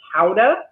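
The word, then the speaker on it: Gouda: that um kind of as a rule uh guda is one of my favorite cheeses and I did some research on it recently for the blog and I found out that it's actually pronounced Howa if you're there okay um and that that's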